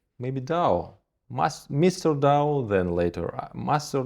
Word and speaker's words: Dao: And we said, maybe Dao, Mr. Dao, then later Master Dao. And why Dao? It were short, and Dao, it is pronunciation in different language like Tao, connected to Taoism.